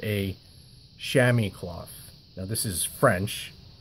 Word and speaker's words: chamois: am oh I asked it's pronounced chamois I believe if not my French friends will correct me so in English we might spell that SH a mm Y chamois okay but it's chamois in French all right so and